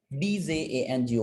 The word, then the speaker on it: Django: तो DJANGO में D silent है, so that's why it's called Django, JANGO, Django, right?